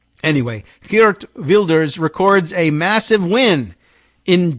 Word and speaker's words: Geert Wilders: I think they would say Geert Wilders. Geert Wilders in our anglicized version, but Geert Wilders, I think, is how they would say.